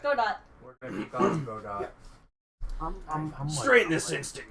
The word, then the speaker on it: Godot: Godot. Hold on. It's actually pronounced Godo. That's how they do say it in the anime.